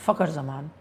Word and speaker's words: Zaman: Uh what is the pronunciation of uh the Pakistani opener? And the answer is zaman for me that is how it's pronounced singing I don't know